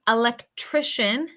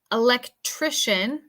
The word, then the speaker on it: electrician: Number 3, electrician, electrician. Okay, so this one's kind of weird. So the C-I-A-N in certain cases makes the sound shun, shun, electrician.